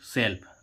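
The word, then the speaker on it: shelf: लेकिन यहां पर एल स एल साइलेंट नहीं है। यहां पर हम इसको क्या पढ़ेंगे? Book सेल्फ। अब देखो एस ई एल एफ सेल्फ। तो यहां एल का क्या निकल रहा है?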